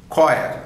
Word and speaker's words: choir: Next one is another one, that's choir, C-H-O-I-R, choir, H is deleted there.